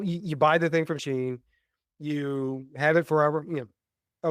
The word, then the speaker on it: Shein: Is it pronounced Sheen? Because I've never been clear on how to pronounce that. Yeah, Shein. Okay, so you buy the thing from Sheen, you have it forever, a little while, and